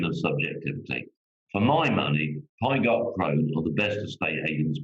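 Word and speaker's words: Pygott & Crone: Kevin, am I pronouncing that? Pygott Crone, yeah. Pygott Crone, there we are.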